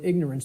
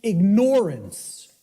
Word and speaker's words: ignorance: us, of the word ignorance, because of the way it's pronounced. I tell people, start pronouncing it ignorance. Ignorance. Then people will hear the word ignore in it, and the connotation becomes clear.